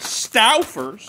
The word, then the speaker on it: Stauffer's: I'm calling it Stauffer's, because I'm pretty sure it's how you pronounce it, because it's spelled S-T-A-U-F-F-E-R-S.